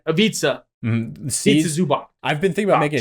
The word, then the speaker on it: Ivica Zubac: TikTok about this also, how to pronounce the C's in Balkan languages. But a C without any accent on it is always basically TZ or TS, however you want to think about it. It's like tz.